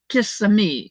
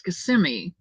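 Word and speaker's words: Kissimmee: of him Nino right it's like Kissam which is really not Kissam it's KMI but if you're from bushnel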